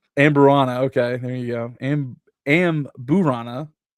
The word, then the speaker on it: Amburana: The real showstopper, the beer was aged on, oh my goodness, I'm going to mispronounce this. Amberana. Amburana.